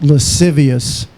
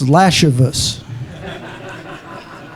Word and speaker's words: lascivious: have a chance when the prosecuting attorney pronounced lascivious as lashus and then the second